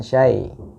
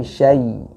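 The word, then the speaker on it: شيطان: Nah, patokannya atau yang menjadi standar bakunya bagi harful lin itu tidak condong ke e, tapi lebih condong ke i, ya. A'udzu billahi minasy bukan syai, tapi syai, ya.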